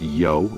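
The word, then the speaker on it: 柚: This is because the word for grapefruit is pronounced yo, the same syllable as because, but with a different tone.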